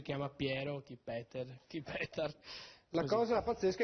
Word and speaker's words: Petar: Allora, diciamo che il mio vero nome è Petar. Petar. Qua mi chiamano tutti Peter. Come quello di Heidi. Io sono rimasto Peter, ecco. C'è chi mi chiama Piero, chi Peter, chi Petar.